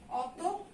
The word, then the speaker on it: অতঃপর: একইভাবে এখানে অতঃপর লেখা আছে, এখানেও আমাদের এই বিসর্গ উঠে গিয়ে পয়ের কিন্তু ডাবল উচ্চারণ হবে। কেমন? অয়ের উচ্চারণটা অই থাকবে, অতঃপর।